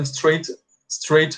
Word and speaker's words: straight: I think you know that straight significa liso. Então, ó, eu tenho cabelo liso. I have straight hair. Esse GH aqui não é pronunciado, tá?